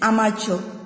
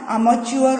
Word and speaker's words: amateur: I have written that in Hindi for you to pronounce that word correct, because many of the students pronounce that word wrongly. It's amateur. Okay? It's not amateur or anything.